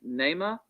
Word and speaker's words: Neymar: they say all right is the correct correct pronunciation of your name neymar yes sir all right nema my